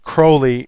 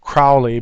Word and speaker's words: Crowley: you see uh uh he wanted his name actually pronounced Crowley instead of Crowley because he wanted to rhyme with holy and I don't want to do that I'll call him uh Crowley um in this case